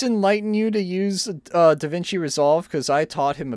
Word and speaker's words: DaVinci: ] eminem rap gods here davinci hearts are pronounced yeah or or davky dan key is how uh alex said danke instead of da vinci it's d-a-v-i-n-c-i da vinci it's a very good